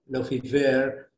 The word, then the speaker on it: Lefebvre: and then moving to Lefebvre, or how they pronounce it in French, Lefebvre, in 1991, with Susan Basnett.